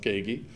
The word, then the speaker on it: Kaegi: and the last name is k AE gii pronounced Ki um and there you